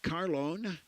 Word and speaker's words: Carlone: coming to the plate carlone with a long o bats 291 home r